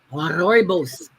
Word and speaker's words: rooibos: It's a red bush tea and they pronounce it. Let me get my all right. Rooibos tea.